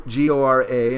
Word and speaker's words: gora: reads indic languages but the first three syllables there is actually one syllable is go in bengali and then the second is oriya and it says ra and it's a long a so the the name